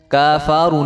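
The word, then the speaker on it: كَفَرُوا: मिर रब्बिहिम व अम्मल्लज़ीन व अम्मल्लज़ीन कफ़रू कफारू इसको करेंगे कफारू, काफ और फा के ऊपर जो है ज़बर है, खड़ा ज़बर नहीं है किसी के ऊपर भी।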